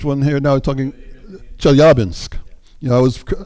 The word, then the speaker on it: Chelyabinsk: you know I was I used to say Chelyabinsk and then a Russian speaker corrected me at like astronomy day or stargaze a little while ago so the accents on the second syllable Chelyabinsk and yeah well that